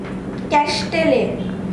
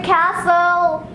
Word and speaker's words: castle: Castelle. Oh, it'll be castle.